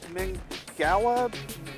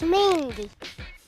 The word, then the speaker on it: Mingua: how you say it I've always heard it pronounced MinGa beef jerky yeah I know how to pronounce this it's mingwa mingua no it's mingy if you like jerky